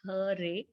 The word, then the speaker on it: Hare: The words Hare, pronounced Hare, Krishna, pronounced Krishna, and Rama rhymes with drama, are Sanskrit words.